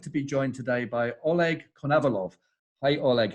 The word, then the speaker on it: Oleg Konovalov: I'm delighted to be joined today by Oleg Konovalov.